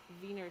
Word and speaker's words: Wiener: Oh, Tim said like wiener schnitle is pronounced vener schnitle. Vener like a V.